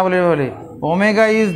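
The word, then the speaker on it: omega: বলা আছে না, ওমেগা এটার নাম হচ্ছে, এর উচ্চারণ হচ্ছে ওমেগা, ওমেগা ও এম ই জি এ, ওমেগা ইজ দি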